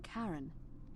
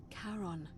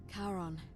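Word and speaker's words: Charon: it's just as you described it only your pronunciation is a little off the name you heard wasn't karen it was c h r as in caron the ferryman of the dead karon who in exchange for the right coin helps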